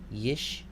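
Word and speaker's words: ישמעו: In this case, the first one is silent, the second one is vocal. The second schwa in a row is the vocal one. So this word will be pronounced yishma'u. Yishma'u.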